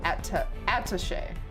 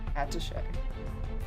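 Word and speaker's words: attaché: Emphasis on the second syllable. Attache. Attache.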